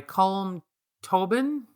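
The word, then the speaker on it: Colm Tóibín: And the novel I finished this morning is called Brooklyn by Colm Tobin.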